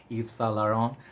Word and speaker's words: Yves Saint Laurent: So I usually have hard time saying the full name, Yves Saint Laurent. So I'm pretty much sure that I just pronounced that, butchered it, but YSL, we'll keep it on the safe side.